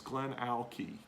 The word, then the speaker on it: GlenAllachie: That's GlenAllachie. GlenAllachie. Okay, so that's GlenAllachie. That's how you say it.